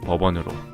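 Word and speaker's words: Bourbon: 부르봉 왕가에 대한 보답으로 부르봉 의 미국식 발음 인 법원으로 카운티 이름을 짓게 되었고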